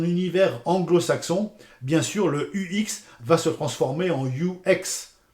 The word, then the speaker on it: UX: Je vous conseille de dire toujours UX UX UX à la française. Euh, soyons chauvin, soyons français.